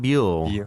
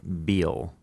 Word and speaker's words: Biel: Not Biel. Biel.